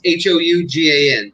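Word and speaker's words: Houngan: Because you were talking about how you're a Hougan priest. Did I say that correct? No. Then fix it for me. See? Hougan, it's Hougan, but the H is silent.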